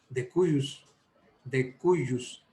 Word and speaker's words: de cujus: elegantemente, como los romanos, de cuyus, se escribe de cujus.